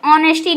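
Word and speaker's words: honesty: can reform the mistake यहां पे देखिए एच साइलेंट ऑनेस्टी ना कि ऑनेस्टी से पढ़ा जाएगा ध्यान से सुनिए इसका प्रोनंसिएशन ऑनेस्टी ना कि नेस्टी यहां पर एच साइलेंट है नेस्टी यानी कि ईमानदारी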